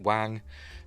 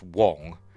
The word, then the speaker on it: Wang: Yes, I pronounce it Wang. I know I think it's a regional thing. I think it depends on your dialect. I don't think it is pronounced Wong. I think it's just the way he pronounces it and people in the area where he lives pronounces it.